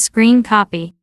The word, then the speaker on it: scrcpy: the following first is scrcp pronounced as screen copy next is Bluetooth audio